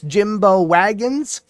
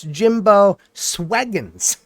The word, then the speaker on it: Jimbo Swaggins: I'm sitting here thinking it's Jimbo Wagons, and it's Jimbo Swaggins.